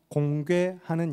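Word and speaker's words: 공궤: 왕과 그 백성들을 위하여서 공괴하는 인물들이 나타납니다. 공괴라는 단어는 괴는 이제 언약 괴를 발음할 때 괴입니다.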